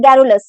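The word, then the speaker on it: garrulous: इसे हम प्रोनाउंस करते हैं गैरुलस से।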